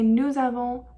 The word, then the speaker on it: nous avons: But I did say nous avons and vous avez and ils ont.